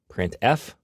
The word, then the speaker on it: printf: They are pronounced: printf, putchar, and puts.